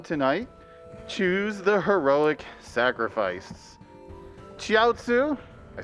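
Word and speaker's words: Chiaotzu: you can also in the Dragon Ball Z run tonight choose the heroic sacrifice chiatsu I said it right this time and Yamcha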